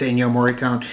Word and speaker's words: Ennio Morricone: And as soon as they said it, yeah, it's Ennio Morricone.